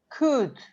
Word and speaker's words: could: work it is you you say could and walk is is when the l disappear that's right disappear in